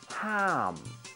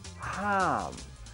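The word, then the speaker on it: ห้าม: On top is a tone mark telling you to pronounce this word in a falling tone. Ha, a, ma, ham. Repeat after me, ham.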